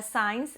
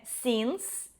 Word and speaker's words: since: Eu vejo muita gente pronunciando signs, mas não é signs, é since.